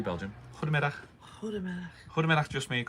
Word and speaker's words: Goedemiddag: Ready? Belgium's soft G. Belgium. Goedemiddag.